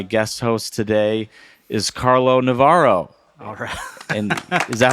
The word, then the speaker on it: Navarro: Chicago and my guest host today is Carlo Navaro and is that how you say your last